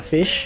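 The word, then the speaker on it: Fisch: that also a game German word for fish is the fish and pronounced the same now is fish did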